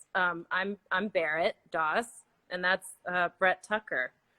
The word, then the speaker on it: Doss: uh yeah i saw someone say can you pronounce both of your names um i'm i'm barrett daws and that's uh brett tucker and i'm gonna